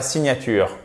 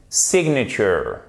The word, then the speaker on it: signature: termine par la signature qui se prononce en anglais sig nature voilà faut vraiment faire attention c'est pas un sig nature non ces signatures ça change tout la première façon vous n'allez pas vous faire comprendre parce que cette prononciation n'existe pas dans la langue de shakespeare si vous dites bien signature l'aiac aucun sou si